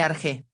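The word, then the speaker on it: ἀρχή: Centro de irradiación, punto dominante, principio, origen, términos todos con los cuales puede expresarse el sentido de la palabra arche, pronúnciese arge, usualmente traducida como principio,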